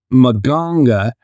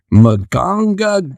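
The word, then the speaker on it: Mganga: So silent letter day. What's that? Yeah. Yeah. So in Omaha, Nebraska, 17-year-old Monga, and it's M G A N G A M G A N G A Manga Manga Manga Manga.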